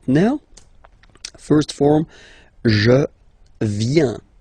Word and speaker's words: viens: First form, je viens, final S not pronounced.